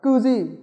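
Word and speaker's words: 九時: Nhưng khi đọc theo giờ người ta đọc là kyuji mà ta đọc là kuji.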